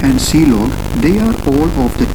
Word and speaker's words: clog: the last one is clog which is pronounced as c log and this is used